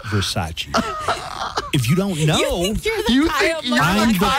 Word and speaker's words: Versace: Do you remember in Showgirls, Elizabeth Berkley kept saying Versace, and everybody would laugh at her, but nobody would tell her. It took Kyle MacLachlan to eventually go, it's pronounced Versace.